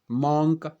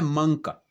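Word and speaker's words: monk: उसी प्रकार देखिए आप, मॉन्क, हम इसको क्या बोलते हैं, मॉन्क। मॉन्क, ये हमारी जो है आम प्रोनाउंसिएशन होती है जब हम इंग्लिश में इसको बोलते हैं, जबकि इसका क्या होता है, मंक। मंक, मंक, ये नाउन है।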